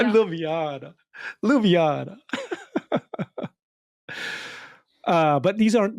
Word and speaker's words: Ljubljana: Ljubljana. Ljubljana.